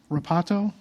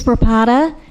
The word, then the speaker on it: Rapata: Next will be Rapato. My name is Rapata. Rapata is spelled R-A-P as in Paul, A-T as in Tom, A.